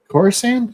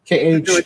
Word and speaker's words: Khorasan: Khorasan? Am I pronouncing that? Khorasan.